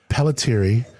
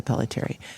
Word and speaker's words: Pelletiere: Maybe you need to put like a long E sound at the end.